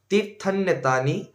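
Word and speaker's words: তীর্থান্যেতানি: গঙ্গা প্রভাস পুষ্করানিচ তীর্থনেতানি এইখানে অনেকজন ভুলভাল বলেন এখানে উচ্চারণটা হবে তীর্থনেতানি নানি স্নানকালে ভবন্তিহা কিন্তু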